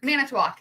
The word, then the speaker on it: Manitowoc: um they did he did end up going and playing for the mailbox Chiefs um minute to walk Manitowoc yeah I missed the syllable in there um and which is